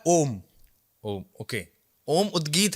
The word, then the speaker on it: ओम: क्या कर रहे हैं, ओम का उच्चारण एक अलग उच्चारण है। प्राणायाम में, उद्गीत में जब आप ओम की ध्वनि को निकालते हैं तो वो ओम नहीं है, वो 3 ध्वनियां हैं, अ, उ और म।